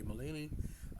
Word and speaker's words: Mullane: So Mullane or Mullane, whatever you want to pronounce it, I'm going to say Mullane. It's a very interesting career